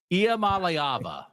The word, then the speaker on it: Iamaleava: State in the playoff and now we're double-checking pronunciations because maybe college football is exploding. Iamaleava, right?